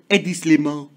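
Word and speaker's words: Hedi Slimane: A.D. Slimane. It's French, so I gotta say it like that.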